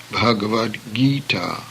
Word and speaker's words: Bhagavad Gita: The final T becomes D when placed before the hard G as in Gita. Thus, Bhagavad Gita means the divine song.